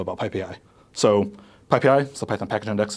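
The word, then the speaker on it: PyPI: let's let's talk a b about PPI so ppi is the python package index it's pronounced PPI um it's the default source of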